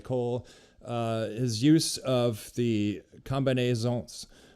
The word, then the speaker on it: combinaison: his use of the combinaisons, maybe the S is silent, combinaison.